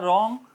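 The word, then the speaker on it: wrong: बोला जाएगा इसी तरह रंग रंग के अंदर W silent R ओ एनजी रंग बोला जाएगा रंग गलत मोड मुड़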